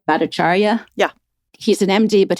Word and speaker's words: Bhattacharya: I mean, he is, so am I pronouncing it right? Bhattacharya?